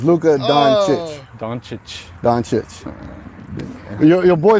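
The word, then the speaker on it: Dončić: Harden hard hard so the proper way to pronounce is donich okay Luka Don [ __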